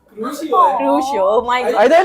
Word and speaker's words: Crucio: Curcio. Stupefy. Curcio. Crucio. Oh, Crucio. Same ही है ना? Crucio. Oh my god. I thought it's Curcio.